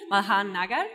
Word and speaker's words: Malhar Nagar: We're here with a PhD student, which is MALHAR Nagar. Tell me if it's correct, the pronunciation.